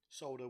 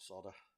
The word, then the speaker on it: solder: be it done solder solder with an L in it by the way not solder sorry of my American